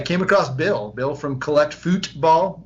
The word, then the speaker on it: Futbol: And I came across Bill from Collect Futbol. You got to make sure you say it right. Futbol, not football.